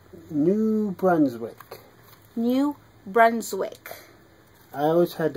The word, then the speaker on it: New Brunswick: New Brunswick.